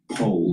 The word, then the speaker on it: Powell: One of the important facts about him, I suppose, is that his brother, Charles Pole, they pronounce it differently, which I think is key to understanding their politics, because Charles Pole was Margaret Thatcher's foreign policy advisor for years.